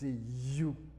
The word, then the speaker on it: HU: Il écrit HU, mais il prononce YOU.